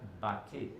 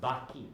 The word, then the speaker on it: Baki: Oh, But it's not Bati. It's Baki. But this- B-A-K-I. Baki.